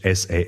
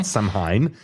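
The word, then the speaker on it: Samhain: f a festival called some um sa which is spelled because you know Irish s a m h a i n and I actually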